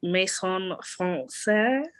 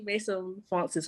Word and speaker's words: Maison Francis: This, I don't know how to pronounce it, but it's Maison Français. Maison Français. Is it Français? Maison Français. Français. I have no idea. I'm messing around. Yeah, it's actually Maison Francis.